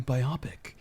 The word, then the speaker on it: biopic: i was was like isn't it pronounced biopic and i was like dude my mind's been blown now i need to know it's not like it's not man it's a bio pic the words don't like